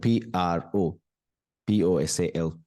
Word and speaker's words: proposal: more words next word look at the word p r o p o s a l p r o p o s a l